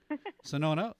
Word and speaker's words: Shenoda: Sonona, a PharmD.